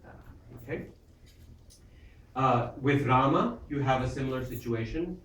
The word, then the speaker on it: Rama: With Rama, you have a similar situation. Rama. The first syllable has a long vowel to it. Ra.